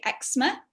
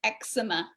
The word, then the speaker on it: eczema: way um so yeah in british english we say eczema two syllables eczema and in the recording the guy was american and he called it eczema which is three syllables excellent oh it depends